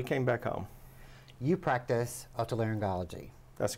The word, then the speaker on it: otolaryngology: You practice otolaryngology.